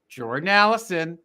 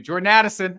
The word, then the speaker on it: Addison: Justin Jefferson Keenan Allen Jordan Allison or excuse me Jordan Addison oh my God I was about I was so ready to give your guy props that I mispronounced his name my apologies and even